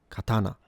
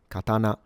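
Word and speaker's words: 刀: And uh you start low T. You go high T and you return low N ka katana. Now there is a secondary possible pronunciation with the hairband pattern. So from low to high and staying high katana. And some Japanese use that too.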